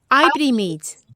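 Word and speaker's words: oibrímid: Ibrimid. It's spelled O-I, but the sound is not oi, but I.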